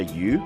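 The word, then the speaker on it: 鱼: homophone the chinese character you which means fish sounds exactly like the chinese character that means abundance so the banner means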